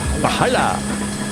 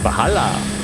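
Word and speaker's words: Walhalla: Valhalla. German pronunciation, Valhalla.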